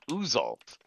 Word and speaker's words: Uxalt: UXALT, pronounced Uzalt, a beholder of dusty, dark maroon hue and unusual size.